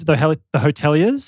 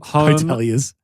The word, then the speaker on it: The Hotelier: I had the Hoteliers. Yeah. Home. Hoteliers.